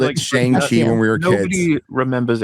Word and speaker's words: Shang-Chi: Chong-Chi?